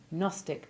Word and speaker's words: gnostic: rare exception being signage words beginning with gn almost always have silent g as in nor and useful if you like pasta the italian gnocchi the rather specialist words gnostic and gnosis also keep their g silent but one splendid exception